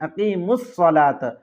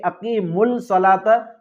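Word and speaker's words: أقيموا الصلاة: अलिफ लाम आया है तो रूफे शमसी के शुरू में अगर अलिफ लाम हो तो यह साइलेंट हो जाता है इसको पढ़ा नहीं जाता तो अकीम सलात पढ़ेंगे अकी मुल सलात नहीं पढ़ेंगे अकीम सलात तो ये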